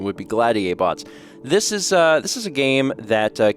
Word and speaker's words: Gladiabots: Today, we are taking a look at Gladiabots. It's kind of a hard word to say, to be honest, because it's supposed to be like gladiator, but bots, so I keep messing